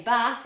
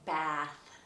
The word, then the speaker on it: bath: way to remember it so for example in the word bath northerners would say bath and americans would say bath so if you're in